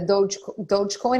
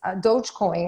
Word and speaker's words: Dogecoin: um and he also you know when the dogecoin am i pronouncing that right yeah yeah when that whole